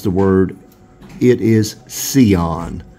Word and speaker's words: Sion: Charles Heitzman pronounced the word, it is Sion. Like S-E-E-O-N-N, Sion.